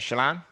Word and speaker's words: Shalon: percent solana and and i want to make sure i'm pronouncing your name right shalon yes you said it correctly all right there you